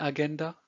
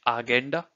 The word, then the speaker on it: Agenda: So it's the agenda. Again, the spelling is the same, but the pronunciation is different. So it's agenda and not agenda or agenda in German.